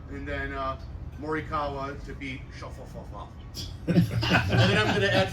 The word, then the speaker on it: Schauffele: How'd you pronounce it? Schauffele.